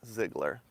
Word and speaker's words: Ziegler: At the Casey's, the clerk did tell me that the correct pronunciation is in fact Ziegler.